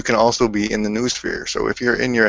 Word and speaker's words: noosphere: new new oath well no sphere or new sphere i prefer new sphere because noodle and it's a funner word but there's people pronounce it the other way but for here it's new sphere and the digital plane